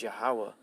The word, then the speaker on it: Yahweh: His name is Yahweh.